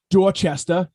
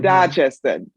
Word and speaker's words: Dorchester: How Bostonians, if there's an A followed by an R, we never even pronounce the R. So you So grew up funny. in Dorchester, as we would say. In Dorchester.